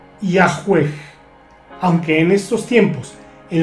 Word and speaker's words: Yahvé: establecerse aún con exactitud los eruditos modernos conjeturan que originalmente se pronunciaba y a juez Aunque en estos tiempos